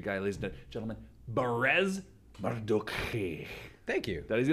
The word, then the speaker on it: Mardukhi: Oh, it's Mardukhi. H-I. So it's the KH. The K-H-I, yeah. But so how do you pronounce it? Technically, if I'm hanging out with family members, then it'd be like Mardukhi.